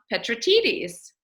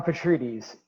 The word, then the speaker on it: Petrides: my dear friend petratitis did i get that right no no so please introduce yourself the right way with the right pronunciation of your last name petries don't worry it happens